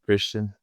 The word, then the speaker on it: Kristian: because like for me, I usually turn my name into like more of an English way of saying it when I'm saying so. I'm like, hey, my name is Kristian. Yeah. How do you say it if you're meeting international people? I normally go with the same. I go with Christian, but What about your last name?